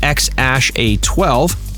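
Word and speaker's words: X Æ A-12: went on to have a son named or pronounced x-ash a12 in 2020.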